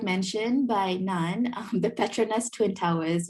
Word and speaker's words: Petronas: mentioned by nan the petronas twin towers you didn't butcher it but it is yeah it is pronounced the prachanda twin towers all the or klcc